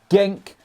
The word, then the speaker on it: Genk: at DM Youth, I believe that's how you pronounce it, Genk, KRC Genk, Monaco under-19s, Monaco B team, and then of course he went into the first team.